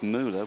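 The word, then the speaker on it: Müller: your pronunciation of um we we're saying muler but Mark's been in touch again and says it's it's Mula which is I think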